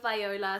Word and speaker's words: Viola: This is Vibing with Viola, spelled with an I but pronounced with a Y.